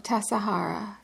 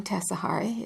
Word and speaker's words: Tassajara: The name Tassajara is from the Spanish word tasajere, T-A-S-A-J-E-R-A, meaning meat drying place, which undoubtedly refers to its American, Indian, and pioneer heritage.